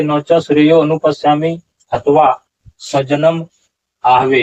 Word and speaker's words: आहवे: और इस तरह से बताते हैं यहाँ पर नीचे देखिए, नौच श्रेयो अनुपश्यामि अथवा स्वजनम आहवे। यहाँ उच्चारण आहवे नहीं होगा, यहाँ उच्चारण होगा आहवे, स्वजनम आहवे।